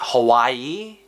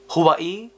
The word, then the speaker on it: Hawaii: the best Hawaii well it's how the the real way you pronounced Hawaii Hawaii so I would love